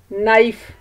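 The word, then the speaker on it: knife: नाइफ। अब हम नाइफ के स्पेलिंग्स देखते हैं, के एन आई एफ ई। आप सोचकर बताएं नाइफ में कौन सा लेटर साइलेंट है। शाबाश, ये है के।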